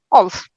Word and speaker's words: OLS: Is it pronounced alls? How do you pronounce this? Yeah, alls. Okay.